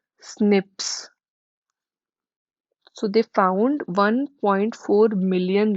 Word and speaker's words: SNP: single nucleotide for polymorphism these are pronounced as snips so they found 1.4